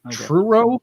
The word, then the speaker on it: Truro: q a now in true row is that how you pronounce it t-r-u-r-o yeah true it sounds like something scooby-doo